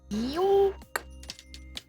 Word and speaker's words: Y00K: But then I said we should spell it Y00K, because then that looks the most ridiculous possible, and it's like Yuke. Which is, you know, sounds like the first syllable.